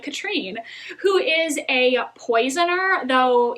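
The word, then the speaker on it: Katharine: a very powerful Elemental Katrine though it's spelled like Catherine the audiobook pronounced it like Katrine who is a poisoner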